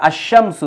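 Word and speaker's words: الشمس: হচ্ছে আল ইনসান উচ্চারণ হচ্ছে তারপরে আল বায়ান উচ্চারণ হচ্ছে আবার আশামসু এই জায়গায় কিন্তু লামের উচ্চারণ হচ্ছে না শুধু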